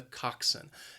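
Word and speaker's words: coxswain: person is the Coxon it has two syllables and the stress is on that first syllable again that second syllable can be a bit confusing has that schwa even though the spelling just does not look like that at all Coxon I wrote through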